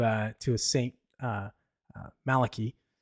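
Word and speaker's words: Malachy: to a saint uh Malaki or Malachi I think is the better way to pronounce it we'll talk about that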